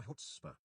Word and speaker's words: chutzpah: Roxy, love your chutzpah. Is that a word? It is, and the TTS said it right. Chutzpah. It's like Jewish for balls or guts.